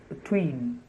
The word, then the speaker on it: between: speak between between so the first syllable is almost like the schwa sound earth but between that's because the stress the main stress is on the second syllable twins so either you